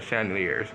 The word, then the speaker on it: chandeliers: Wait, if I'm saying it right, Chandlers or chandeliers? Cause look, I'm saying the name Chandler. Hold on, let me go ahead and change your chandeliers. Okay, yeah, chandeliers.